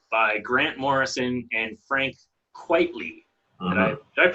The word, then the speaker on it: Quitely: favorite books, We3 by Grant Morrison and Frank Quitely. Mm-hmm. Did I pronounce his name correctly? It yes. is Quitely, which is like a pen name, I think.